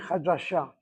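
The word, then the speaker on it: חדשה: Hasifrut hi hadasha. Don't do this Ashkenazi on me. Hit the last syllable.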